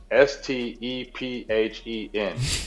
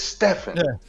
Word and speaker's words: Stephen: is his name is spelled s t e p he n why are we call him Stephen it's Stephan why we call him